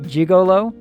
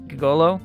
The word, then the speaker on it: Gigolo: the arcade called Gigolo I mean I really want to pronounce that jigolo but it's not it's Gigolo anyway on Central Street